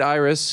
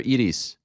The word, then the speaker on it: Iris: uh Iris the great Iris who's been by your side for a long time is it pronounced Iris or Edis Iris Iris it's her birthday today